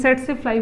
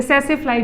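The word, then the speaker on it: tsetse: मैंने सेट्सेफ्लाई बोला जाता है या सेसेफ्लाई भी बोला जाता है, तो आप इसको दोनों प्रोनाउंस कर सकते हैं, दोनों ही करेक्ट है।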